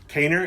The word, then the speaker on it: Kaner: Kaner, is that correct?